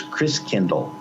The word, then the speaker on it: Christkindl: And the German pronunciation of Christ child is Christkindl. Like kindergarten, kindercare, kind means child, Christ means Christ.